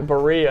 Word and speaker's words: Berea: And Coach, can you help me pronounce Berea? Berea.